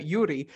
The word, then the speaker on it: Joeri: listening you don't understand his name is spelled very different especially the Yuri uh is spelled very different from uh from the way it sounds so I'm really really